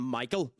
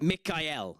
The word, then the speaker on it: Michael: that has the name Michael. Um, Michael is actually meant to be Mikuel. Mik Mikel. Mikel is meant to be how you pronounce Michael.